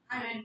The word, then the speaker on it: iron: समझिए next we have iron और मुझे आपको क्या मारना पीछे से it's never क्या नहीं होता कभी I रन नहीं होता क्या होगा iron look if you will